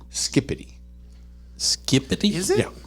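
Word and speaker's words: skibidi: TJ skibby is pronounced skippity skippity is it yeah it's pronounced like skippity but it's spelled with a B SK it's spelled SK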